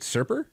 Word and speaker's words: Serper: meet yeah is it is it is it serper yes ah that part i got right hell yeah uh well